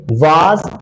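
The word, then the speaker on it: were: आगे आर ये वाज इसे वेर समझने वाली बात ये है कि इसे हम लोग वेर पढ़ते हैं बट कहीं ना कहीं इसे व भी पढ़ा जाता है अगर हम लोग अपर क्लास में जाते हैं तो जो वेयर है डब्लू ई आर ई इसे हम लोग व भी पढ़ते हैं तो चलिए वेर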